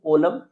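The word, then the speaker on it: column: जैसे सी ओ एल एल यू एम एन। इसको हम रीड करेंगे कोलम।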